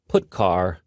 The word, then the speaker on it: putchar: They are pronounced: printf, putchar, and puts.